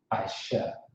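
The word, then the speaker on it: אִשָּׁה: I, Shaw. Aisha. Aisha. Yep, Aisha. Yep. That's how you pronounce Aisha.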